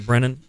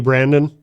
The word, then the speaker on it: Brennan: and I play bass Brennan yep oh how do you spell that b r n n a n do do people often think that like uh do people call you Brandon by yeah I figured